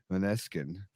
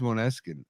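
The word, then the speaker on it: Måneskin: album of the the manesin the rush is that how you say it manesin is that you pronounce I think it's monin with the like the AO I was listening to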